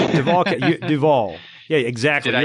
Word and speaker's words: Duval: You pronounced it Duval.